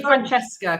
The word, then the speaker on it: Francesca: oh my goodness franches trick carico just say Franchesca considering my name's changing and I've just leared